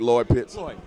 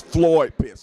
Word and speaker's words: Floyd Pitts: I pronounced your name correctly, right? Lloyd Pitts? Floyd. It's Floyd Pitts, okay?